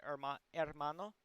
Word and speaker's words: hermano: way to spell it you may notice that there's an h there but i said hermano instead of hermano that's because in spanish the letter h does not make a sound um instead the letter